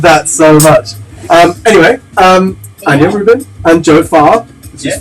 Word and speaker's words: Rubin: So because it's Ruban, right? No, it's Rubin. You said it right. Oh, Rubin. Yeah.